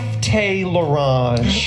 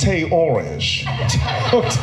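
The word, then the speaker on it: Tay L'Orange: There's no Tay Lorange. It's Tay Orange. So the L is silent? Mm-hmm. The L is silent. The apostrophe is silent. The O is strong and the O is the rest of it.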